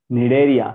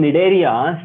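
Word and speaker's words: Cnidaria: silence C are silent I don't know why don't ask me why C is silent okay cph cords and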